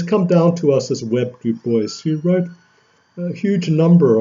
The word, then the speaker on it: Du Bois: Du Bois, basically pronounced in a shorthand of Webb Du Bois, Dubois, to use the French pronunciation, but Du Bois refused to use the French pronunciation, basically using the pronunciation